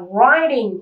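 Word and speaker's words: writing: Trong tiếng Anh Mỹ ấy, thì khi mà cái âm chi này đứng trước một nguyên âm thì chúng ta được phép đổi thành D. Cho nên cái này đọc là riding.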